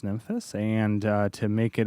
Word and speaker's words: Nymphes: today with the dreadbox nyhus I believe that's pronounced nyus and uh to make